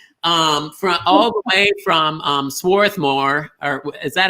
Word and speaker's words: Swarthmore: Robert, Sue, from all the way from Swarthmore, or is that how you say it? Swarthmore? Swarthmore, yeah.